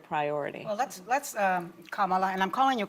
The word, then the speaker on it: Kamala: um a shared priority well let's let's um Kamala and I'm calling you Kamala because for all of those who are mispronouncing it I want you all to know